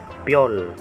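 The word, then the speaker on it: 별: Ito pong symbol, P naman po kapag nasa unahan. Yung katabi po ng P, yung Yo. Yo. Ito po yung Yo na ang bigkas ay yung Yo na smooth sound lang po yung pagkakabigkas ng Yo. Yo. Yo. Tapos po yung L, L naman po yung nasa ilalim, yung parang 2. L naman po. Pyol. Pyol.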